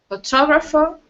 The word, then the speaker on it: photographer: of photographer F photographer photographer H with an R sound at the very end photographer photographer okay so